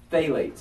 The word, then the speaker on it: phthalates: about are fail aids now it's pH THL ates fail aids okay that's how you say it failings like th and